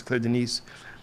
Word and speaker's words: Denis: It's spelled it looks like Dennis, but it's D E N I S, but it's Claire. It's pronounced Denise. Cla Denise.